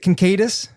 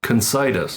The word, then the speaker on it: Concitis: how do you say your last name? Is it concatus? Close. Concitis.